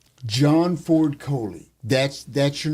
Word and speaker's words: Coley: And Jimmy came up and he said, "John Ford Kohley." That's That's your name. Take a take a nail out like Red Foley.